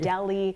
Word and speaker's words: Delhi: correctly in my stories you mentioned Punjab and Dilly instead of Punjab and Delhi yeah and then I